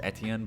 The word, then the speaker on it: Etienne: think he's their guy i could see etienne or etn depending on how you want to pronounce it i think the proper way in french is etienne but i think etn could be in play here but uh i think